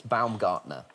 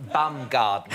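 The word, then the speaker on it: Baumgartner: bloke's name was Felix Balgartner. Wow. I'm afraid you've got the the name a little bit wrong. I believe the pronunciation Alan and Joe Bumgardner.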